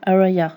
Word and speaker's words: Aria: Aria's Garden, mais Aria, ça se prononce pas comme ça se prononce Araya normalement.